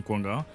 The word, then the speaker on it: Kwongang: Déjà, moi, c'est Kouanga. Oui. Déjà, je vous félicite d'avoir bien prononcé mon nom, ça c'est rare.